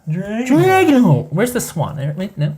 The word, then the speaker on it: Dragonholt: That's how it's pronounced. Dragonholt.